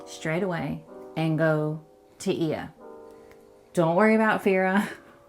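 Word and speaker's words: Oia: Everyone's at Oya, it's Ia. They are very... Try not to say it wrong.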